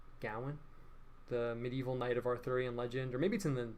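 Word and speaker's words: Gawain: I think it's er Gowen so you say his name Gowan the medieval knight of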